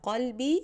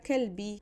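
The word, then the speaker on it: قلبي: Imagine you want to say to your son, you are my heart, but instead of anta qalbi, you say anta kalbi. That's embarrassing.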